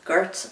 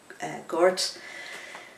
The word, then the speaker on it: Gort: So the 12th letter then is Gort or Gort. It's G-O-R-T, and in Irish we pronounce an O much more like a U, so we say Togaboge,